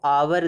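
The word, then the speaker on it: hour: आवर में एच का उच्चारण नहीं हो रहा है।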